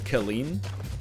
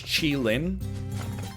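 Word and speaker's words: Qilin: like apparently uh the the mount in neo babylon is not called kelleen it's chilin be honest with you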